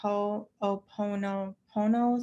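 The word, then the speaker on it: Ho'oponopono: maybe I'm not saying it right but it's ho oono Pono so ho o o p o n o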